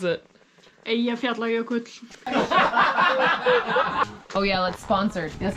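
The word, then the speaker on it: Eyjafjallajökull: volcano that we were on today is called Ijafjalakailakul. I jump jelly school. Okay, how do you pronounce it, Dad? Ia fiol yoklch. Yoklch. Okay, and how do you actually pronounce it? Ia fiol yoklch.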